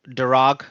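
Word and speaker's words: Darragh: It doesn't, or Irish names don't always look like it is how it's written, but it's pronounced Dara, just FYI.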